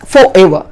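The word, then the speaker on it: forever: फॉरएवर, हमेशा के लिए, और इसका प्रोनाउंसिएशन होता है फॉरएवर ना कि फॉरएवर। बहुत से लोग फॉरएवर बोलते हैं जो कि गलत है, इसका सही प्रोनाउंसिएशन है फॉरएवर।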